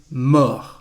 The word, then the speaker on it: mort: Mourir is irregular because the past participle is mort. Mort with a T, we don't pronounce it, it is the masculine form. The feminine form, we add an E and the pronunciation is morte. Mort, morte.